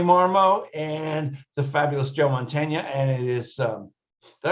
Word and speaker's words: Mantegna: of cyberspace Ronnie marmo and the fabulous Joe Montana and it is um did I pronounce that right Joe is it m that's